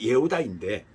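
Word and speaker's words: יהודה: 그리고 네 번째 아들 유다는 원어 발음이 예후다인데 감사와 찬양의 말을 바랐다는 뜻이에요.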